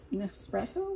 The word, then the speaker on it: Nespresso: These other little cups in here, so you can you can use K cups, or you can use nespresso. What's it called? How do you say it? Nespresso.